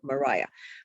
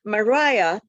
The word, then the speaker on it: Maria: longworth nicos and kitayam she pronounced her name mariah mariah here you can see